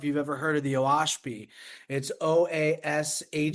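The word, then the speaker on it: Oahspe: pronounced Oashpi.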